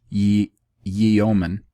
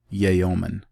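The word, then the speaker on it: yeoman: misery generated by the dispossession of the british ye ye omen i apologize for mispronouncing this word i've just never seen it in my life y-e-o-m-e-n yayomin but rather to placate the consciences of those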